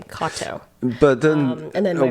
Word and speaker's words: Katow: But it's spelled Katow, which is why you were like Katow, because obviously that's how it's spelled. But it is similar to the name that's like Kato, common Japanese last name, Katow.